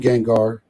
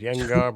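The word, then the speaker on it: Gjengaar: Now, the one thing we didn't talk about, I like, and I call him Gengar. That's what I'm always going to call him. But I think it's pronounced Yengar, but hey, what am I?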